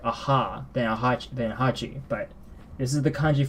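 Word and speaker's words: 八: So how do you pronounce this, you might wonder? Hachi.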